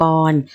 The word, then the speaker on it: กร: ลด รูป หาย ไป เวลา อ่าน ออก เสียง ออก เสียง ว่า กอ ออ นอ กร เหมือน นอน หนู สะกด นะ คะ